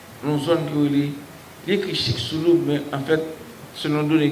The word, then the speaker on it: Chicxulub: Dans une zone qui est écrit Chicxulub, mais en fait, selon données que je prononce Chicxulub, mais c'est le langage par de toute façon.